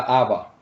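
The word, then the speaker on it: אבא: Y yo no sabía cómo se pronunciaba también mamá en hebreo. Y los hebreos, mame. Voy donde mame. Mame. Y papá, Abba.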